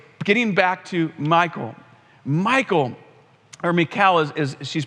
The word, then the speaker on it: Michal: Anyways, getting back to Michal, or Michal as she's pronounced, it says that she loved David and they got married.